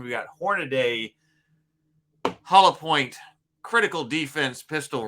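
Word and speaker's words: Hornady: So these are the Hornaday. We discovered that's the right pronunciation. We got Hornaday hollow point critical defense pistol rounds.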